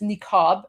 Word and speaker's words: niqab: You have the niqab, which is niqab, as I pronounced in English, because there's no letter q.